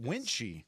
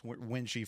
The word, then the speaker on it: Wuensche: This is Ross Winch. Is that how you say your last name? I don't know if I've ever say it. Winchy.